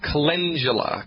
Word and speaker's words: calendula: So the recommendation here, there's a botanical medicine called calendula. Calendula is the correct way to pronounce that. Calendula, Latin's a funny language.